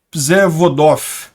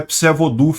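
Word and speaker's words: Przewodów: Mas, segundo dizem, é Przewodow que se pronuncia isso daqui.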